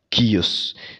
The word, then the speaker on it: chaos: Par exemple, si vous avez entendu le mot chaos, chaos en anglais, qui veut dire le chaos, KO, par exemple, kios.